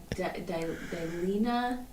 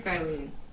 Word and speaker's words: Dilene: Dilena. No A at the end. Dilene. Dilene. It's Dilene. Dil. Ean. I would pronounce that Dilene.